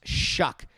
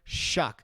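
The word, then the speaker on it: Shough: but i looked this up and it's actually pronounced shuck tyler shuck all right he's a guy who can exploit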